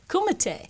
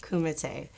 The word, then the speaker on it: kumite: been in karate and commit how do you pronounce kumite kumite kumite yeah my parents met on the US team